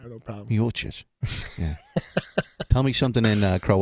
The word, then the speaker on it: Miocic: Miocic. Miocic. Yeah. I kind of like that pronunciation.